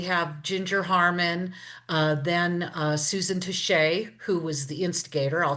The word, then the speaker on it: Tixier: A lot of people mispronounce her last name. For one thing, it's Touche, obviously, not Tixier.